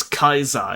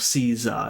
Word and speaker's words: Caesar: All the C's are K's. It's Kaiser instead of Caesar.